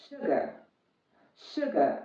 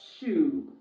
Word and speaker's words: sugar: long sound ooh so when pronouncing words like sugar cook book look you pronounce it short because in between the